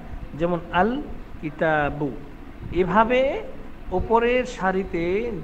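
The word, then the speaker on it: الكتاب: লাম যোগ হওয়ার কারণে লাম হরফটি স্পষ্ট ও আলাদা উচ্চারিত হয় যেমন কিতাবুনের শুরুতে আলিফ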